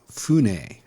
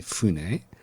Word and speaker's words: fune: So sometimes F's change to B in Japanese. So sakabune or simply Fune.